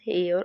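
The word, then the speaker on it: hour: 29 question बोलता है शी is dash हेयर ऑफ the throat.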